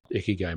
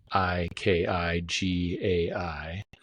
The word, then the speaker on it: Ikigai: idea, or the model, Ikagai model, Ikigai, not like how Preston would spell it, ICKY space.